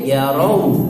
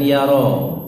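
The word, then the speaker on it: يروا: Awalam yarau, hati-hati yarau pakai wawu ya. Yarau, jangan yaro. Maknanya beda.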